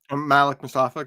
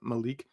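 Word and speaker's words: Malik Mustapha: Malik Mustafa, not Malik. Jeez. I love making fun of your mispronunciations.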